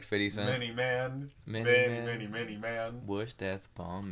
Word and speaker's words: Many Man: No, it's M-A-N-Y, man. Many Man. Say it wrong. I swear it's Man.